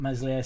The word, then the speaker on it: Meslier: everybody goes crazy about meslier silent s d whether you like